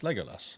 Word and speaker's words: Legolas: say it Legas is it's l Lego L Legolas there you go leg Legolas maybe yeah I